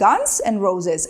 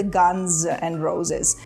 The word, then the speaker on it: Guns N' Roses: назви Guns N Roses будьте уважні Коли вимовляєте цю назву бо дуже часто кажуть Ганс and Roses хоча правильно казати Guns N Roses в цьому слові закінчення множини S вимовляється як з Guns N Roses історія